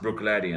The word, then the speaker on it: Bruichladdich: So you have a word like Bruichladdich that's like 21 letters in it. This Bruccichlabd, whatever, triple D. But it is just pronounced Bruichladdich.